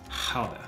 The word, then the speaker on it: Gouda: When you see this cheese and your friends say, "Ooh, I love Gouda cheese," you can say, no, it's pronounced Gouda.